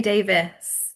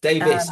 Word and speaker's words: Davies: Well, I say Davis, Davis, but okay. it is spelled Davies. So, Right, we'll go with Davis.